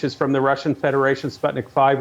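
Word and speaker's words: Sputnik V: What about the Sputnik, which is from the Russian Federation, Sputnik 5, or V as it's pronounced, the two Chinese?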